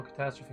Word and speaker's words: catastrophe: It took me 3 tries to spell catastrophe correctly and did not... Catastrophe. So that's just one of those other weird words where you've got an E at the end, and why would you pronounce it?